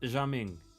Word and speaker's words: Gaming: his name is seriously gaming I love that it's pronounced jaming actually because it's a Chinese name but it's spelled gaming and it's so goddamn